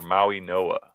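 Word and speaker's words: Mauigoa: So there, or Maui Noah is the correct way to pronounce it.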